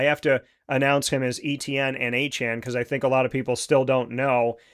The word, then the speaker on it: Etienne: Travis Etienne Jr., who now wants to be called Travis Achan Jr., saying his name was pronounced incorrectly most of his life.